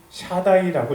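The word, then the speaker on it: שדי: 전능자는 히브리어로 샤다이라고 읽습니다.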